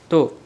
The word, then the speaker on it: た: इसको बोलते हैं ता।